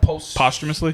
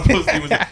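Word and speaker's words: posthumously: for so long too I had to wait till I heard somebody else say it like oh that's was post humously I I called it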